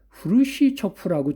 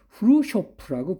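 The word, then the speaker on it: Khrushchev: 53년에에 죽었고 그 뒤에 그 우리가 후르시프라고 초기에는 불렀어요. 옛날 제 시절에는. 근데 그게 사실은 일본식 발음이라 지금 제대로 인정하는 거는 후루쇼프라고 불러요.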